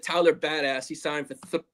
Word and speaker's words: Biadasz: It's Biadasz, but I'm just going to call him the Badass.